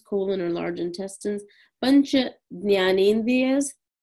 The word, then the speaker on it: Jnanendriyas: Pancha Jnanendriyas. This is pronounced differently depending on what part of India you come from. If you're from the north, you'll say Gyanendriyas. If you're Gujarati, you'll say Gnan.